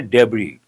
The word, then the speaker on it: debris: But S is silent. We say debris.